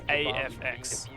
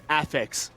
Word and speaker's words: AFX: Well, I got word from Enigma, the coach of LFO, and I said, is it AFX or is it Affix? And Enigma responded, Affix, please, bro.